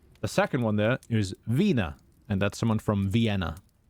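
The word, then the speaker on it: Wiener: i e e I it's always the second one in English that you should pronounce so the top one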